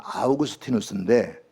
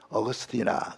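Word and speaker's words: Augustinus: 어거스틴, 원래 이분은 정식 발음은 아우구스티누스인데 처음에 한국에 이분을 소개하는 사람이 어거스틴이라 그래가지고 우리 한국 교회는 전부 어거스틴을 합니다.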